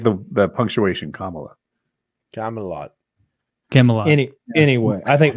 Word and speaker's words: Kamala: or I keep get corrected on how to pronounce her name but I don't mean to disrespect when I call her Camala I just thought it was her [ __